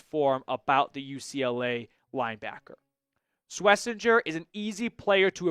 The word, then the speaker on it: Schwesinger: But, it was a very good season for Swissinger. And I am pronouncing that correctly, by the way.